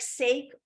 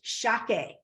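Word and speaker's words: しゃけ: And the way you say salmon in Japanese, it looks like sake or sake, but it's shake. You pronounce it shake.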